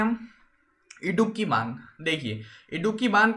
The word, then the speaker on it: इडुक्की: देखिए इडुक्की से हम देखते हैं कि इडुक्की यानी डुबकी, इसको याद रखिएगा डुबकी से, ये थोड़ा ऐसा ही प्रोनाउंसिएशन हो रहा है इसका डुबकी जैसा।